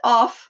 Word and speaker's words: of: But with of, pronounced with V, of, this one, it can only be and always just a preposition.